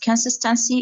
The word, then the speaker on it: consistency: No, consist. Emphasis on cis. Consistency.